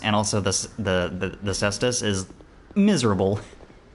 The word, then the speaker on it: Cestus: Cestus. That's how I typically pronounce it, but it's good to have confirmation. Also, hello Ravvenoff.